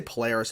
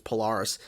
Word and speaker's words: Polaris: I used to say Polaris. It's Polaris. Shows up and just wipes out all the Sentinels.